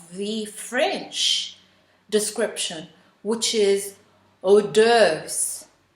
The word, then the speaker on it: hors d'oeuvres: french description which is hors d'oeuvres with a silent s in the first syllable the second taboo i